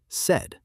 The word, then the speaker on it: said: The past tense of say is said. This is also an irregular verb, so you have to memorize it. Yes, it is spelled S-A-I-D, but it is pronounced exactly like the color red.